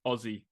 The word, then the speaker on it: Aussie: Aussie Aussie but um for all you Americans out there it's it's it's Aussie yeah so as in as in picture this o-z-z-i-e yeah like Ozzy Osbourne yeah yes yes yeah